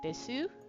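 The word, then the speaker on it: です: Desu? Desu. Oh, desu. Okay. Oh, yeah, I figured it out, Mina, thank you. Yeah. I know. It's des, because you don't pronounce the U.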